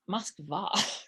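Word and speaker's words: Москва: the russians who pronounce it kiev but but pronunciations like moscow it's moskva right right right yeah it's it's all it's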